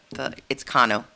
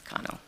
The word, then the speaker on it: Kano: Actually, the pronunciation of my name, it's Kano. The A is the ah. The ah. Yes, Kano.